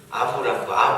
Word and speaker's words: 아므람: 그래서 이 두 부부가 아므람과 아브람이 아니고요. 아빠 이름이 미음 무람이에요. 발음이 좀 비슷하죠? 아므람과 요게벳이 애를 낳는데요.